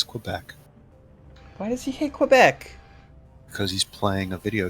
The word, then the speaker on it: Quebec: why does he hate Quebec because he's playing a video game I hold a corner also I pronounced Quebec wrong it's Quebec hmm but only if you're in Quebec otherwise it's Quebec it's like where I